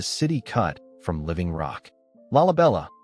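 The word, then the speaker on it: Lalibela: Laabella, pronounced Lai BHL.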